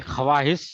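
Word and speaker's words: خواہش: होगा कि ईश नहीं ख्वाहिश नहीं होता है वो साइलेंट रहता है हम नहीं बता ख्वाहिश आपकी तो हल्का सा वो ई ऐसे लिखेंगे करेंगे हम ये साइलेंट जनरली रहता है ए वाऊ ख्वाहिश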